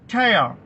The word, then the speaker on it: tear: അപ്പോൾ നമ്മുടെ വാക്ക് TEAR രണ്ടാമത്തെ അർത്ഥം അതിന്റെ ഉച്ചാരണത്തിനനുസരിച്ച് മാറും. TEAR, ടയർ.